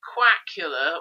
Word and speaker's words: Quackula: And I've been wondering to myself, is Quackula or Duckula better? Quackula properly actually rhymes with Dracula, is quite nice, but Duckula also has the initial D like Dracula. Interesting point that.